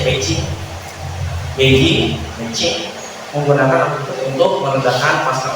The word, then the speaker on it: Beijing: Beijing ini bacanya Beijing menggunakan akupuntur untuk meredakan pasca operasi.